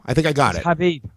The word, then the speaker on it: Khabib: think I got it khabib I think you actually say Habib well no no his